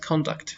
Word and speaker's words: conduct: soʻzi ot bo'lganda urg'uni birinchi bo'g'inga qo'yamiz. Konduct fe'l boʻlganda konduct.